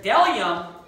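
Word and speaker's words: bdellium: And then it says, there is delium and onyx stone. So that B is silent.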